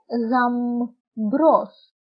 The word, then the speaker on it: γαμπρός: Αλλά το μπ, όταν βρίσκεται στη μέση της λέξης, διαβάζεται ως μπ. Όπως λέμε γαμπρός, γαμπρός.